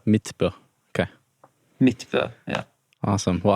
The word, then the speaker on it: Midtbø: O How do you say your last name mitb mitb okay MIT yeah awesome well I'll be sure